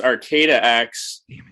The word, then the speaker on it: ArcataX: me um just to let you know it's pronounced arcata x we uh we're located in arcata which is